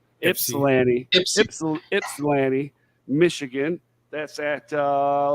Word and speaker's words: Ypsilanti: too taking place at the falling Warehouse in Ypsilanti Michigan Ypsilanti Michigan see I said it wrong Ypsilanti Ypsilanti Michigan that's at uh let's see here